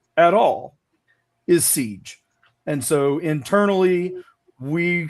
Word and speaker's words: SEGE: it appears as though the most common way to pronounce it, which is not phonetically correct at all, is Siege.